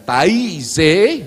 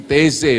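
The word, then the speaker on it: Taizé: misalnya dengan gerakan pembaharuan di teze bukan ta Tapi teze bacanya Ya pembaruan di tez anda tahu lagu-lagu repetitif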